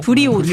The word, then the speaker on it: 브리오니: 브라운이 아니고 브리오니. 브리오니. 네, 이탈리아 명품 네, 하고 에르메스 이 넥타이 하나가 뭐 한 몇십만 원. 에르메스야 뭐 유명하니까. 네. 근데 브리온이 알았어요? 좀 아는 것 같네. 아, 브리오니 뭐 넥타이 브랜드 이제